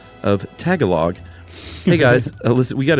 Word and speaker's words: Tagalog: Chuck said Tagalog. It's actually Tagalog.